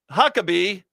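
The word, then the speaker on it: Huckabee: Needless to say, Huckabe, well, rhymes with Huck.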